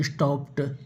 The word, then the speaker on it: stopped: STOPPED का उच्चारण स्टॉप्ड होता है, टा होता है, डा नहीं होता है।